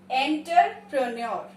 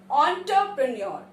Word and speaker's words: entrepreneur: The next word is, इसके ऊपर तो मूवी भी बनी है, एंटरप्रेन्योर. Wrong pronunciation. The correct pronunciation of the word is entrepreneur. Onto, and नहीं on.